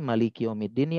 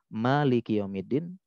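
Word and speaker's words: مالك: ada yang pendek jadi Malikiyaumiddin nih ada dua cara baca Malikiyaumiddin yang kedua Malikiyaumiddin satunya panjang nanya satunya pendek dua-duanya Boleh Memang ada dua cara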